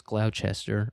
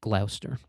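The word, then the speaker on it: Gloucester: So that's why uh this place that anybody else would pronounce Glowchester or Glouester uh or Glowester.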